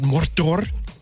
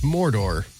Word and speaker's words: Mordor: In the movies, it's Mordor. In this series, there's a couple of them that really go in on the Rs. They say Mordor.